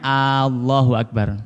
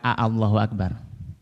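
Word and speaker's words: الله أكبر: Bacanya Allahu Akbar, bukan Allahu Akbar. Maka tidak boleh dipanjangkan. Wa adamu maddi ba akbar. Tidak boleh dipanjangkan huruf ba dalam kalimat akbar.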